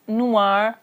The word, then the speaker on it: noir: color huh black so black in masculine is Noir and in feminine its new our pronunciation basically is the same but then feminine